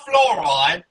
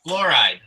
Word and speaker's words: fluoride: No, it's not fluoride. It's It's fluoride. It's just one one word. Two just two syllables.